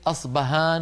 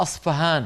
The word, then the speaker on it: اصفهان: حرف بين الباء والفاء ومنه كلمه اصبهان واصفهان لعلكم تسمعون ببلد اسمها اصبهان وفي بعض الكتب تجدونها اصفهان بالفاء لماذا وهل اصبهان بالباء غير اصفهان بالفاء لا هي نفس المدينه هي المدينه نفسها ولكن نطقها بلغه الفرس اصفهان فهان يعني حرف محير بين الباء والفاء اذا هذا الحرف المحير